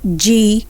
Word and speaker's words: genes: We have G-E-N-E-S. We have it as genes. The S there is pronounced as Z and not S.